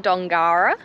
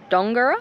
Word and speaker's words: Dongara: But thank you for everyone who commented on Instagram and said you pronounce it like Longara, so Dongara.